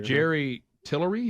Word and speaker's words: Jerry Tillery: Jerry Tillery.